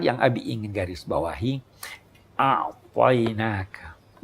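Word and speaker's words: أعطيناك: A'tainaka. Kalimat ini berat di lidah non-Arab. Ain. Ya toh? Pengucapannya, pelafalannya lebih susah sedikit.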